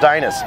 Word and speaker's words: Dynas: They're from Dynas, there it is, pronounced Dynas.